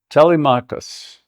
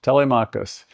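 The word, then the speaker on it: Telemachus: In the beginning of the Odyssey, there's a young man, if I can say his name, Telmachus. Close enough. Telmakus.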